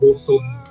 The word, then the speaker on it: Juson: Ang letter J as in letter heads. So Huson. Huson din ang pag-pronounce.